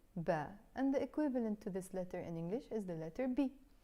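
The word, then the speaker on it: باء: The name of the letter is Ba. In Lebanese Arabic, we can also pronounce it B.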